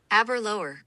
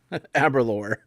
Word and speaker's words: Aberlour: This is how you pronounce it. Aberlour. Aberlour.